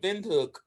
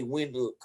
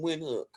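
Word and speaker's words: Windhoek: i'm pronouncing that correctly i usually just say wind look i pronounce it like a w but you're supposed to pronounce it with the v so there are about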